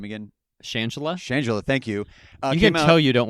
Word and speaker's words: Shangela: he tied up director / director and then mispronounced the name again shangela shangela thank you so you don't watch enough drag